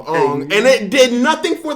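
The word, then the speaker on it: Aang: he was like oh traditionally the name is pronounced on so we're going to have him called on and it did nothing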